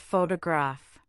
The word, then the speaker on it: photograph: For example, say the word photograph. Now say photographer. Finally, say photographic. Notice how the stress shifts.